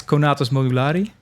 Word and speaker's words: Conatus Modulari: How it's pronounced? I think it's Conatus Modulari.